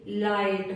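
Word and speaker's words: light: जी एसटी में आया जी एच हमेशा साइलेंट रहता है जैसे लाइट फाइट नाइट राइट माइट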